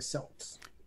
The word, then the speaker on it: Celts: The Celts or the Celts? Celts. Unlike the team in Boston, they know how to pronounce the letter C in Celtic.